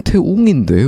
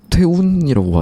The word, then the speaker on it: 태웅: 그래서 나는 태웅인데 왜 태운이라고 하지? 계속 생각을 했거든요.